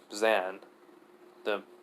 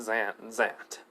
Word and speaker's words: Zant: minute okay I missed it was not e not Zan Zant and she just signs